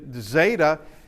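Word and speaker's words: ζῆτα: Now, zeta, it is a Z. It is a DZ sound, as in ads, which, unless somebody's going to be a stickler, you can just pronounce it as a Z, unless somebody's going to be particular.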